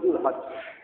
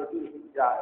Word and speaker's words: জুলহিজ্জা: এটাকে জুলহজ হিসাবে বলি, জুলহজ। তারপরে জুলকাদা, কিন্তু আমরা বলি জুলহজ, সংক্ষিপ্ত করে এটা আমাদের মুখে এটা প্রচলিত আছে। জুলহজ, জুলহজ সহজ করে বলার জন্য এভাবে বলা হয়ে থাকে, যদিও সহি উচ্চারণ হচ্ছে জুলকাদা, তারপরে জুলহিজ্জা, এভাবে বলা হয়।